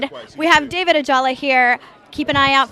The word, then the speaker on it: Ajala: David Ajala here. Keep an eye out for Nightflyers. Yes, good pronunciation.